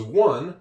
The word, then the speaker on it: one: This spells one. This spells own. Stone. Same combinations of letters can make different sounds in English. one own that's English. It's mostly memorization.